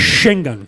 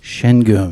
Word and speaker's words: Şengün: Şengün. Şengün.